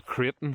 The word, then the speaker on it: Crichton: The Creighton family is right, the Crichton family it's spelt.